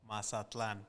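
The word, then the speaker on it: Mazatlán: Martin, can we get a proper pronunciation? Get to the mic and say it. Mazatlan.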